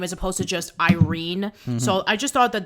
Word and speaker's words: Irene: name even though that according to what i've heard in like welsh and hungarian uh pronunciations that is the actual pronunciation of the name as opposed to just irene so i just thought